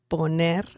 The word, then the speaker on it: poner: poner, poner, that is the pronunciation.